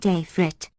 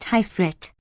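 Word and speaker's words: Ifrit: impossibility FN number 14 not afrit pronounced hyphrit as our poets have it this variety of the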